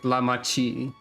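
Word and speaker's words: Lamaty'i: So that's pronounced like Lamachi. So the Y apostrophe I is like a she or a chi, kinda. Very well, Dawn Servant.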